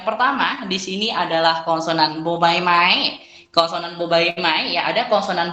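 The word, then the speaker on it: บ ใบไม้: Ya, bobaimai dibaca dengan bunyi B, dan kemudian ada kategori konsonan P.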